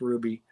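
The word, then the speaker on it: RWBY: and seven to watch ruby is a fantastic anime and north american made anime amazingly enough too and so i've been watching ruby spelt r w b y but pronounced ruby i've been watching that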